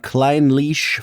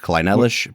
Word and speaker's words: Clynelish: so today we are checking out Klein leash 14 year now I am going off of some very credible sources in pronouncing it that way I thought this would be pronounced kellish but were your sources from